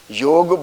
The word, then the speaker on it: योग: India से originated है, और इंडिया के लोग ही उसको मिस प्रोनाउंस करें, तो ये हमारे आपके लिए बड़ी शर्म की बात है। तो कम से कम हम लोग इसको एटलीस्ट योग बोलना शुरू करें, नंबर 1।